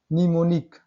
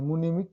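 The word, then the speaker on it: mnemonic: Rule number 2 देखते हैं, किसी शब्द के शुरू में ही एम के बाद एन आता है तो एम साइलेंट होता है। देखिए निमोनिक, एम के बाद एन आया है, क्या पढ़ते हैं, निमोनिक। निमोनिक कहाँ बोलते हैं, मुनिमिक भी नहीं बोलते हैं, ओनली निमोनिक।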